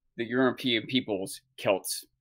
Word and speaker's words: Celts: Phonetically, by all rules, it should be pronounced S. But in the past 100 years or so, scholars, academic historians have decided it's probably more historically correct to call that European people's Celts instead of Celts. But it's still phonetically correct to say it with an S sound.